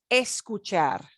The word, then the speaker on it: escuchar: notice when we say each of these infinitives as the infinitive, we punch the ending syllable a little bit more. That's the way these verbs work. Okay. They end in a consonant that is not N or S. So we're going to punch that last syllable.